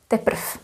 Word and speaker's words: teprv: If you say naposled, D will be pronounced as T, naposled. Naposled, as well as here, teprv.